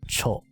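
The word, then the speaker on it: ちょ: This is tiu or chu, and this is tio, which is pronounced cho.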